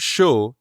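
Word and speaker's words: chaud: we say the word sho is pronounced like the english word show but you stop right before you start closing your lips for the w show show let's try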